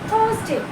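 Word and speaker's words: Thursday: The next is द थर्सडे। थर्सडे। इसको बहुत ज्यादा अलग-अलग करके थर्सडे बोल इट्स नो इट। टू से थर्सडे। This is थर्सडे। आप र को नहीं भी बोलेंगे तो चल जाएगा।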